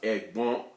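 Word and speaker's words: ẹ̀gbọ́n: practice that again but this word then is pronounced egg bomb a bomb to me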